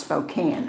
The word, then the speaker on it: Spokane: Um, oh, Becky says it's pronounced Spokane.